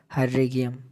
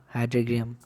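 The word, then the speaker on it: Hydrargyrum: ये मैं स्पेलिंग यहाँ लिख देता हूँ, HYDRAGYRUM, हाइड्रेगियम।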